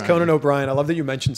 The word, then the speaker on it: Conan O'Brien: a hard time and they mispronounced his name as cronin o'brien that's that's it these are not fun for these people every time someone says conan o'brien i love that you